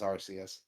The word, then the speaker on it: Arceus: It's Arceus. Okay, I've only seen it written, man. I've never seen it pronounced.